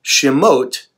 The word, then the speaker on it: shemot: Hebrew is called chimote the word Shem means name and the OT sound at the end of that indicates the feminine plural so Shem name shemot names so the book